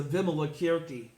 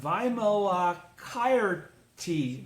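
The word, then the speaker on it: Vimalakirti: friends from india okay i would always call this the vimala kierke sutra it's really the vimala chireti sutra again the pronunciation of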